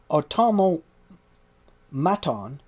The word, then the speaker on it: automaton: distressing footnote personal footnote Auto maton is actually pronounced automaton as we all know